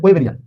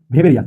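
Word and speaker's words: Weberian: আপনারা নিশ্চয়ই এটাকে বলছেন ওয়েবেরিয়ান। কোন বিজ্ঞানী তিনি? জার্মান বিজ্ঞানী। কিন্তু জার্মান ভাষায় ডাব্লিউ উচ্চারণ করা হয় না, ডাব্লিউ কে উচ্চারণ করা হয় ভি, এই কারণে এটার উচ্চারণ হবে ভেবেরিয়ান।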